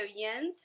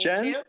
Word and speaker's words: Jens: If you could give him speaker, he said you can knock me down if you need Jens? to. Is it Jens? Yeah. Jens. Jens?